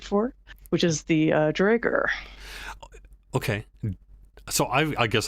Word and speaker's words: Duergar: Like I've heard Duergar, I've heard Dwergar, I've heard Duergar.